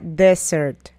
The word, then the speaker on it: desert: Postre se pronuncia dessert, mientras que desierto se pronuncia desert.